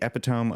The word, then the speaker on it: epitome: review goes as this this movie is the epitome of great animation and storytelling it's short EP what what let let him read let him read wait is that not how you pronounce it it's epitome oh EP oh god I've embarrassed myself in